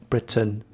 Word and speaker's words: Britain: Retain, ain is the sound A, retain, and Britain, the sound is which is a schwa sound, Britain.